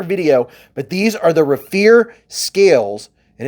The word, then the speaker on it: Raffir: be a quicker video but these are the Rafer scales and it's spelled r a ffi r they they have